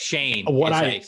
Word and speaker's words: Schoen: last name wrong, but Shane. Sheen. That's it's very confusing. Like, it doesn't look like Shane at all, but it doesn't at all. Yeah, that is the way it is.